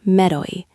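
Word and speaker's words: メロい: It's Mero-i, M-E-R-O-I. 3 syllables, and it sounds kind of playful, right? That's intentional.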